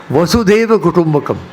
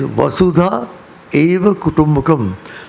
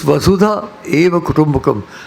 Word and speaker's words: Vasudhaiva Kutumbakam: It is Vasudha Eva Kutumbakam. The word itself is nothing to do with Vasudeva. Many people mispronounce it. They think it's not Vasudeva. It's Vasudha Eva Kutumbakam.